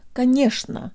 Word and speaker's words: конечно: I'm Kira and today you'll learn how to pronounce the word ghanoush nough or of course let's start with the middle